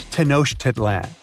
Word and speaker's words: Tenochtitlan: It's Tenochtitlan. And Mayan cities are hard to pronounce too.